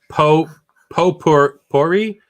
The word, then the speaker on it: potpourri: It's pronounced Potpourri. Potpourri.